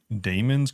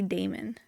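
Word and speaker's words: daemon: AI it must be demon I was just thinking about it because like if were to run a certain program it's spelled D AE m o n but it's pronounced demon I'm reading Frankenstein and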